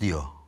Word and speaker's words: Dio: osborne mu T Dio Daha doğrusu Dio mu okunuyor too da diyorlar Ronnie James Dio Ha o zaman ya Kendisi de öyle diyor o dioa O kendisi